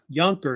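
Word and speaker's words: Junker: those days and the word the word uh younker it's pronounced why it means in German young Lord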